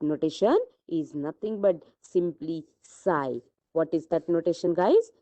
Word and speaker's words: psi: Psi's spelling is, if you are going into the literature and you will find over there psi means psi, police psi nahi. Here your p is silent.